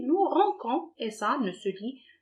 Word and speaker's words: rinçons: Sinon, on va la prononcer, nous rinçons, et ça ne se lit pas.